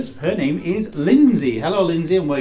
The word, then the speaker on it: Lynsey: In fact, you don't pronounce it D, it's not Lynsey. It's not Lynsey, no, it's Lynsey.